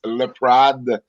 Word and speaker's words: Laprade: those who are wondering my last name is pronounced le prod so it gets it